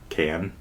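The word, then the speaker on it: Cannes: I had heard about the can can dance and I had heard that that was being suggested as can film festival can silent s can.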